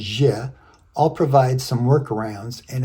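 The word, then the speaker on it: Ж: However, it is pronounced as je.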